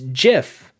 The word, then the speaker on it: GIF: for getting political but is it gif or jib it's gif it's jif it's it's spelled gif it's it's jif like peanut butter like graphic interface that's what the the